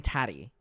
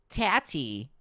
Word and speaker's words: Tati: People keep making fun of me for saying tatty. They going Taddy as in tatty. How do you say it? Tati. Is that better?